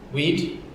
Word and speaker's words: we'd: Porque Weed? Yeah. Mesma coisa de apelido para maconha. Weed.